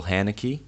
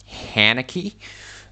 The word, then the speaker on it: Haneke: Amour is a movie directed by Michael Haneke. Haneke, That's how I say his name. His name is Michael Haneke, but nobody cares.